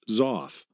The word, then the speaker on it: XOF: extendable output function or xof pronounced zoff this section introduces the